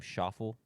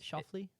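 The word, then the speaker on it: Schauffele: Um, I was pronouncing his name Sha before the show and is it Shafley?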